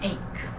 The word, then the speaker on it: ache: when you see this the pronunciation is ache stomach ache toothache back ache i'm coughing sneezing i